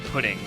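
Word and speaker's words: プリン: uh Jigglypuff's Japanese name it looks like it's spelled as purin or ptin but it's actually an incfi version of pudding so Jigglypuff's Japanese name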